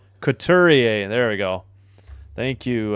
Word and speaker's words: Couturier: Got to get a pronunciation on that name. Couturier.